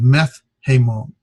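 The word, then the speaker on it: μεθ’ ἡμῶν: So you get, instead of meta hemon, it's meth hemon. The tau changes to a theta, as well as that alpha drops.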